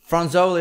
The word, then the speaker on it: Fronzoli: franzoi out November 10 did I pronounce that right franzoli franzoi is how you pronounce it that's exactly it all right now what